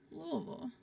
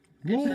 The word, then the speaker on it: Louisville: lives there, all the natives, we pronounce it Louisville. Louisville.